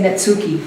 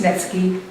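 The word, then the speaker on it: netsuke: Americans say Netsuki, but it's Netski.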